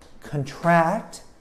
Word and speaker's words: contract: Contract, you emphasize the second syllable, and it means to get something.